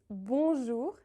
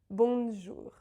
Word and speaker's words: bonjour: Also, like all the other nasal vowels, the N or M is never pronounced. It's bonjour and not bonjour.